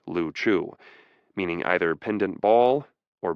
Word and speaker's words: Liu Chiu: The group of islands was called the Liu Chiu, the Chinese word usually pronounced Liu Chiu, meaning either pendant ball or bubbles floating on water.